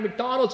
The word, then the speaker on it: McDonald's: Like, you know, my parent, you know, McDonald's is 3 syllables, right? But my mom made it 4 syllables, right?